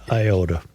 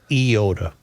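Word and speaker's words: Eyota: 50 years of listening to school closings and I swear they said iota.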